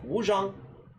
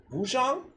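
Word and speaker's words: Wuchang: I'm pretty sure it's pronounced Wu Jang, but let me stop.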